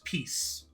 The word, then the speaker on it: peace: were talking about was peace. A piece of advice. And that final sound, s, that's the sound of a snake. That's what a snake says. S.